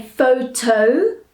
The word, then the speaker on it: photographer: So often people will try say photographer, right? Which is incorrect. We have to say photographer. So the tog in the middle of the word is one of our syllables, which joins photo and grapher together.